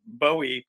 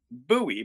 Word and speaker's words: Bowie: I grew up in Eastern Iowa, and I have noticed a tendency for Yankees to say Bowie. But in the South, it's Bowie.